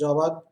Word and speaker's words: Jawad: So in this briefing we will discuss about the highlight of cyclonic storm Jawad, pronounced as Jawad, over West Central Bay of Bengal, which has intensified today over West Central Bay of Bengal 11:30 hours IST of today.